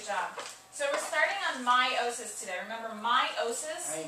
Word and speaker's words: meiosis: differently than it looks it's spelled m-e-i-o-s-i-s but it's pronounced my meiosis is what my